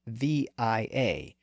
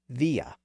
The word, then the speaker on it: via: meaning by way of it also came in after the great vow shift with its original vow sound pronounced via but many English speakers have converted it into via so again we still